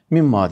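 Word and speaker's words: مِمَّا: ve mimm daki mimma Arapçada min ve ma kelimesi ikisi birleştirildiğinde mimma diye okunur Bu ne demektir ma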